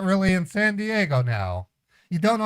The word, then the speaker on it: San Diego: where the hell is Santiago it's in California you said Santiago that's in another country San Santiago where's where oh you're saying San Diego you just don't know how to pronounce it right right God you suck